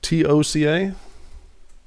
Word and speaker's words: Toca: Am I saying it right? Toga? It is Toca? Yep, it is.